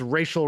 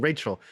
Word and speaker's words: Rachel: really like like this racial Ray girl but he was mispronouncing Rachel so I would think like when I was young I like this racial Ray she like racist cook or something and so